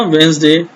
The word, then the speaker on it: Wednesday: वेडनेसडे को कैसे बोलना है, वेंसडे। क्या बोलना है, वेंसडे, डी को साइलेंट करना है, वेंसडे, वेंसडे।